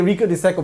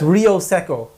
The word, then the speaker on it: Rio Seco: whole video calling it rico de seco and andrea sent me like seven messages it's real second okay say it properly we won't have you